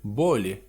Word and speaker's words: более: Zobaczcie, że dwie litery je na końcu słowa nie brzmią jeje, chyba że byłyby akcentowane, a rzadko są. I tak jak tu czytamy более, tak jakby to była jedna litera w zasadzie.